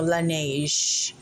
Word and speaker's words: Laneige: Yung pala yung pronunciation nitong, pronouncement nito, Laneige.